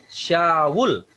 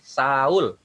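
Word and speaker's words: شاول: Wa amma Syawul, bukan Saul. Jadi jangan dicocok logi bahwa karena tulisannya Saul maka bacanya juga Saul. Tulisannya Syawul, bacanya Syawul. Baru kemudian alladzi huwa bulus.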